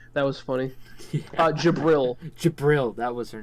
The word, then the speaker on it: Jibril: summoned the nuke that was funny uh jabril jibril that was her name and it's spelled with a G it's like g-i-l-b-r-a-l no